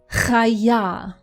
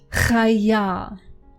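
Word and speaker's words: חיה: It is chaya. Chaya. Try to imitate this sound. If you are not used to pronouncing ch, try to imitate it. Try to practice.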